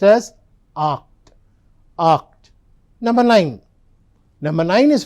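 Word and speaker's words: acht: So number eight is pronounced as oct.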